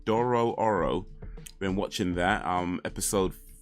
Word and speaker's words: Dororo: do oh watch oh Dorado uh so Doro dororo let me say it right Doro Oro been watching that um episode 12 I just